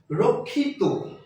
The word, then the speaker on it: রক্ষিত: এই নিয়মটি হচ্ছে ত বা ইত প্রত্যয় যোগে ত বা ইত প্রত্যয় যোগে যে শব্দগুলো গঠিত সেই শব্দগুলোর উচ্চারণ অর্থাৎ অন্ত অকার উচ্চারিত হবে। রক্ষিত রক্ষিত।